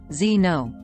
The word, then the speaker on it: xeno: superior to one's own the Greek root word Zeno pronounced Zeno means stranger or foreign guest